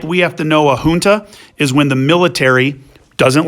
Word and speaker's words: junta: that the fact that the word's pronounced junta and not junta, it has the H sound like a Spanish word, which should hopefully help